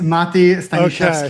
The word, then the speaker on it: Mati: It's Mati.